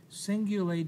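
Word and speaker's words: cingulate: on the inside is the singulate jar spelled with a c c i n g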